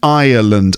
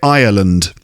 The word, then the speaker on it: Ireland: same island and ireland i think there's there's more syllables in the name of the country so island you know you know like a desert island um and i uh lund here ireland slightly different actually but some people might pronounce them the same anyway there is a